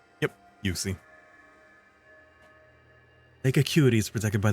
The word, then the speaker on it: Uxie: I think it's Uxie? Maybe. Uxie. Pokemon pronunciation. It is pronounced Uxie. Yep, Uxie.